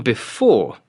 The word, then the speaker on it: before: For example, on before, it is the second syllable. Before.